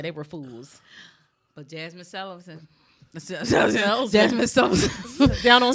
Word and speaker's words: Sullivan: Jasmine Celeries. It's too late. Shout out to Jasmine Sullivan. Sullivan. I had to pronounce it and enunciate since she called her celery.